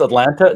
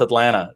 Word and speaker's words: Atlanta: in atlanta so um yeah people think it's atlanta no it's atlanta dublin yeah that's right it's it's all those